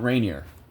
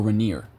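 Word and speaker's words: Rainier: radiates from it what's Mount Rainer or or reneer however you want to pronounce it you are correct same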